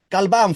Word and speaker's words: Galvan: Galvan for the Spanish-speaking friends.